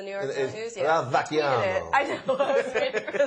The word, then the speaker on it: Vacchiano: Ralph Fasciano, is that how you say it from the New York News? Yeah. Ralph Vacchiano.